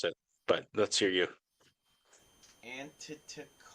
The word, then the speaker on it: Antetokounmpo: Tries saying Giannis Antetokounmpo.